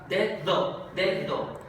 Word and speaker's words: dedo: Pronuncio la D normal, la que sería oclusiva, D, y luego uso la segunda, es fricativa, dedo.